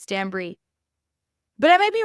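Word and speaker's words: Stanbury: but it's not Caroline Stanberry it's Stan Bri Bri as in like it obviously it's spelled b r y but it's pronounced like the cheese like bri b r i e different than Stanberry and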